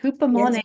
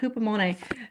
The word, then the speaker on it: Hupomone: Hupomone, if I'm saying it right, Yes, Hupomone. good. Yeah, I've been working on it. Hupomone.